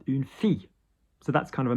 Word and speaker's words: fille: Double L is a pain in the ass because, for example, a town, une ville, which is how it should be pronounced. But, for example, a girl, a daughter, une fille.